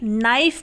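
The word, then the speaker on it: knife: silent हो गया यानी की यहां पर के है तो लेकिन हम उसे बोलेंगे नहीं वो साइलेंट रहेगा इसलिए हम इसे नाइफ बोलते हैं हम का नाइफ तो नहीं बोलते ना क्योंकि यहां पर साइलेंट होता है यानी की नहीं बोला जाता क्यों नहीं बोला जाता क्योंकि वो एन से पहले ए रहा है उसी तरीके से के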